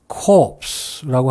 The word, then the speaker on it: corpse: 마지막으로 이 말은 시체라는 말인데 여기에서는 S가 발음이 됩니다. 그래서 모양새는 core와 매우 흡사하지만 발음은 S가 들어가서 corpse라고 합니다.